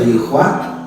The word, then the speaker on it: Yahweh: Makanya Yahudi itu Pak kalau melihat huruf seperti ini ya, YHWH ini, nah huruf YHWH ini, YHWH dibaca Yahweh, tapi kalau dibacanya di luar sholat mereka tidak mau baca.